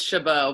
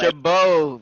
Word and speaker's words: Chabot: Hey, it's Chabot, by the way. Chabot. I'm right next to it. Please say it right.